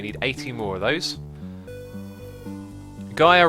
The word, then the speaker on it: Gaia: Gaia rhymes with higher.